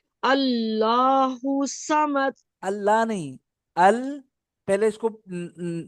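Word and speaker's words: الصمد: समद नहीं, वही इंग्लिश वाला जो मैंने आपको बताया था ना, सौद के ऊपर जब भी जबर होगा तो इंग्लिश वाली प्रोनाउंसिएशन होगी SAW। सौमद। समद जी, सौ SAW, आई सौ।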